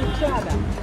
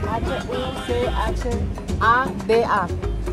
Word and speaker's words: Huchada: panadería esta se llama huchada huchada huchada con h h u c h a d a huchada ucha ustedes lo van a pronunciar huchada pero ah en pamiento sí se pronuncia la H Ah huchada con h